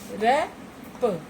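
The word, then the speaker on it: wrap: रैप रैप. W silent है.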